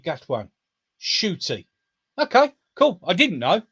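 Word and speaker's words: Ncuti: i have his name hiding his name is pronounced as shooty got one shooty okay cool i didn't know clearly because i've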